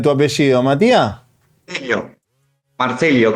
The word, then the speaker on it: Marcello: Marcelio con doble L. Marcelio. Ah, Marselio. Pero si dice Marselio porque a veces se dice como que se pronuncia una sola L.